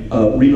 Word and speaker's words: Reba: a country singer and her name rhymes with Eva and so here's Reba McEntire I didn't need